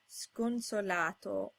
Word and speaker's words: sconsolato: All other times it's pronounced sk, as in sconsolato.